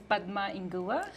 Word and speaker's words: Padma Inguva: pronounce your last name oh my name is bug ma in Goa see I knew I couldn't pronounce it I've been working on it and